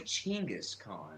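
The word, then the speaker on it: Genghis Khan: no that's how he that's the way to say it it was jenga that was the persian translation that it was actually chingus khan yes ch western my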